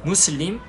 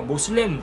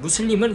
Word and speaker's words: 무슬림: 뭐고 모슬렘은 이제 알아보 무슬림 무슬림을 영어권 사람들이 미국에서 어 모슬 모슬 이렇게 쉽게 자기들 영어 발음대로 한 거예요 그걸 이제 한국에서 신교지